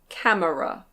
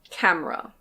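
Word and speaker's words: camera: This technically can be pronounced "cam-e-ra". Cam-e-ra. But I've hardly ever heard a native speaker say "cam-e-ra". We basically always say "cam-ra".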